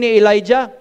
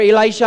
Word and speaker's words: Elisha: position of gihazai if you remember how you pronounce that Elijah or Elisha I'm sorry Elisha and Captain neyman asked Elisha